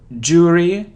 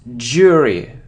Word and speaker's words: jury: so the next word it isn't so dry dry or jewelry its jury ooh-ooh-ooh-ooh jury jury it isn't front so we